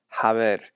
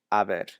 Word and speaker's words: haber: speaking, when using this, there's no H sound. Okay, it's not haber, it's haber.